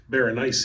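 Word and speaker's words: Berenice: the teeth is pronounced Baron instead of three syllables well because he actually spe yeah well he specifically said it rhymes with very spicy which is interesting that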